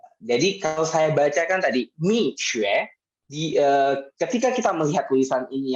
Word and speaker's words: Mixue: Ada yang bacanya Mixue seperti teman kita tadi, ada yang bacanya Misue gitu ya, ada yang baca berbagai macam. Nah, pertanyaannya bagaimana sih melafalkan ini? Nah, yang benar adalah untuk melafalkan brand ini adalah Mixue.